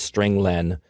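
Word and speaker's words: strlen: nine i pronounced its string len because it means string length it returns the number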